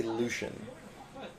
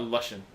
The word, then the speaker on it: Lucian: I want to say Lucian. Like ocean. Not Luscian.